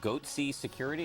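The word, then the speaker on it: Goatse Security: They're called Goatsy Security. Is that am I pronouncing that correctly?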